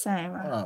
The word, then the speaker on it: Sarah: Her name's pronounced Sarah. Oh, but it looks Sarah to me.